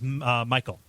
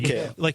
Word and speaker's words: Mikhail: Let's hear, Ben, what does Michael? I'm sorry. Mikhail. He told me Mikhail. how to pronounce it, and Mikhail, there we go.